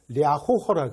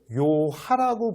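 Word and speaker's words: 遼河: 그런데 이 랴호허 강을 중국 애들은 이렇게 발음하는데 우리는 뭐라고 발음하냐면 우리는 얘를 요하라고 불러요. 요하.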